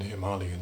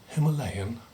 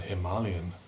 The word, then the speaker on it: Himalayan: Professor of Nepali and Himalayan Studies at SOAS. Now, note those pronunciations. Don't you mean Nepali? People sometimes say. Don't you mean Himalayan? No, I reply, it's Nepal, not Nepal, and Himalayan, not Himalayan.